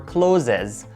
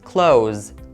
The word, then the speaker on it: clothes: And be careful when you pronounce the word clothes. A lot of people mispronounce it and they say clothes or closes, but it's wrong and the correct pronunciation is clothes.